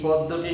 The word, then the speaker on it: পদ্য: আমি ফরহাদ আজকে হাজির হয়েছি এইচএসসি পরীক্ষার্থীদের জন্যে বাংলা প্রথম পত্র সাহিত্য পাঠ থেকে ফররুখ আহমদের পাঞ্জেরি এই পদ্যটি নিয়ে হাজির হয়েছি। তবে উচ্চারণটা হবে পদ্য।